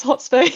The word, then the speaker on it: thxt_space: Um, so I kind of just say like the T is silent, it's hot space, but it is thought Hot space.